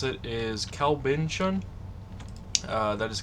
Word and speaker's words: Kalbintion: pronounce it uh the way I prefer to pronounce it is CB Bon uh that is k a l b i